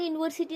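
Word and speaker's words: university: This is एन यूनिवर्सिटी नहीं बोलोगे, ए यूनिवर्सिटी। क्यों, यहाँ पे वाई वाला प्रोनाउंसिएशन आ रहा है, देखिए।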